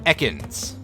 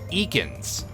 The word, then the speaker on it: Ekans: is certainly a pokemon arbok in its pre-evolution ekans or as the announcer in pokemon stadium would call it eakins which was one of the big standout like differing pronunciation things in a pokemon medium for a